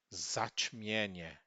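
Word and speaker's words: zaćmienie: Zatmienie. Lembrando que a gente, pelo fato de ter um sinal diacrítico, não significa que ela será a sílaba tônica. A sílaba tônica continuará sendo sempre paroxítona, sempre essa daqui.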